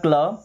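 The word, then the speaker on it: clay: सी एल से बना क्ल, ए वाई से ए की मात्रा क्ले।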